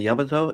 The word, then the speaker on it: Yamato: And again, the the just the last time I'll say it, but the Yamato is pronounced Yamato, not Yamato. Yamato.